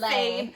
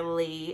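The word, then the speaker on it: Leigh: It's Lay. I just kept calling her Lee in my head. Oh, so but I did know it was Lay. But I just, the way it's spelled, I can't help but just say Lay.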